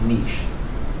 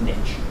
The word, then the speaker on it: niche: because I did, is niche, or as Americans pronounce it, niche. I do not like that pronunciation. I like niche. But I guess niche is just as acceptable.